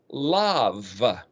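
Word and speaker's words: לב: LB, Lamed bet, but the B in Hebrew can also be pronounced as a V, the letter V or the letter B. Just like in Spanish, the same letter has 2 sounds, so you'd pronounce the word for heart in Hebrew as lav, like lava, molten magma of rock, volcanic rock, lava.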